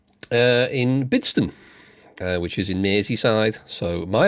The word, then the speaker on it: Merseyside: Merseyside, as it's supposed to be pronounced.